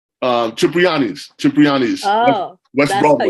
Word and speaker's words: Cipriani: at he was eating at that place on Soprani? Cipriani's.